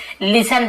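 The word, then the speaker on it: listen: प्रकार से देखिए लिसन ये टी साइलेंट होता लिस्ट नहीं पढ़ेंगे लिसन पढ़ेंगे टी साइलेंट है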